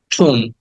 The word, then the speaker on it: tomb: বিয়ের উচ্চারণটা হবে না, আমরা কিছুক্ষণ আগে জেনেছি যে এম এর পরে যখন ব সাউন্ড থাকে তখন এম এর উচ্চারণ হয়, ব এর উচ্চারণ হয় না।